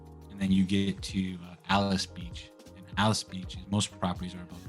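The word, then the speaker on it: Alys Beach: so like 30A and Alice Beach so it's uh it's spelled a-l-y-s and um yeah it's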